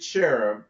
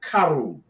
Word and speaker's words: cherub: Thou art the anointed cherub that covereth. See, when we see this, we're going to break down this word, cherub. And I said it wrong. It's karub. Karub.